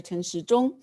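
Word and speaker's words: Chen Shih-chung: um cecc commander dr tan xi jong who is also the master of the health and welfare of taiwan because his name pronounced like clock in mandarin chinese therefore we like to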